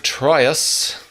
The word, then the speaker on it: Troyius: Yee jeepers guys really this episode is called Ln of triose rhymes with a Helen of Troy it does I don't